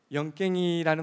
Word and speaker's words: 영깽이: 나간다는 표현으로 다시 말씀드리면 영깽이라는 말은 네. 깽이라고 발음하면 안 되고 네. 깽의 이응 받침을 묻어가야 됩니다.